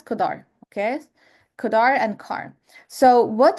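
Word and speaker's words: cdr: car function fun and this one is pronounced as kodar.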